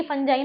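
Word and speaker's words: fungi: और फंगी, ये देखो फंगी फंजाई ना, ये दो यूएसए और इसमें ब्रिटेन के प्रोनाउंसिएशन में फंगी फंजाई दोनों सही है, तो कंफ्यूज नहीं होना।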